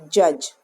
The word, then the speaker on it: judge: judge ju d GE judge student this D is silent Ju DG is pronounced